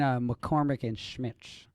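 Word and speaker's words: McCormick & Schmick's: And McCormick and Schmitz.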